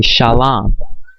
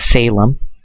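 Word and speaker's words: שלום: This way we say it, they say Shalom, but the correct spelling, the correct pronunciation, Shemitic, would be Shalom. Okay, Shalom, not Salem.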